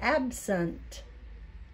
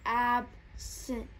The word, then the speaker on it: absent: Now, you said scent because you know that's a word. But when I say that, I say absent. Can you say it again? Let's see how you say it. Absent. Yeah. We kind of put that sound in there, don't we?